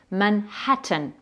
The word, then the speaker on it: Manhattan: Manhattan. Alors c'est important de le prononcer ce H parce que vous allez voir,